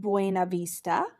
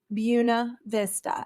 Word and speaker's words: Buena Vista: Vista Georgia it looks like it should be pronounced buav Vista but here in Marian County in Southwest Georgia it is pronounced bua Vista and if you don't say it right we're